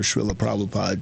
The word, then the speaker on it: Srila Prabhupada: I think the philosophical aspect of it all, like, I always quote my spiritual master, Srila Prabhupada, because he taught me more than anybody.